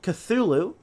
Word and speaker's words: Cthulhu: The Little Cthulhu. That is how you pronounce it.